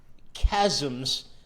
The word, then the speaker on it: chasm: There are chasms that you cannot hop from.